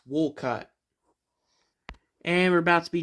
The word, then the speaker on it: Wolcott: Coats. Wait, it's pronounced Wolcott.